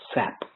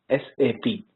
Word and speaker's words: SAP: this world of sap is that never ever pronounce this as sap okay never ever pronounce this as sap always pronounce this as sap the reason is the S sap is not